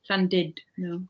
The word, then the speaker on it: Llandudno: Gemma Tarbox says she and her partner got engaged in Llandudno. No, not Dud. Llandudno. It says Dud. I know, but it's pronounced.